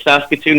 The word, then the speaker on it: Saskatoon: Saskatoon? How do you pronounce that? Yeah, no, you're right. Saskatoon is the city.